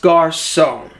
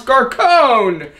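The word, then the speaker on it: Garçon: you butcher the name it's pronounced garon what at first I'm like what do they know no they're wrong it's pronounce garone and then another comment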